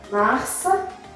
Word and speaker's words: mars: So you're going to say that the S is silent at the end of the word.